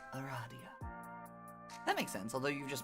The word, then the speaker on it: Aradia: that feels odd in my mouth it is pronounced Aradia makes sense although you've just met you can